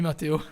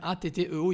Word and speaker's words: Matteo: Salut Mathéo. Il y a quelqu'un qui t'a dit salut Mathéo. Oula, vous l'avez détruit son nom. Alors son nom s'écrit Matteo. C'est à l'italienne, c'est Matteo.